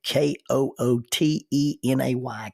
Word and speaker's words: Kootenay: Now, rather than trying to explain all that, I'll spell it for you. K O O T E N A Y, Kootenay carriage with an English reeve, R E E V E.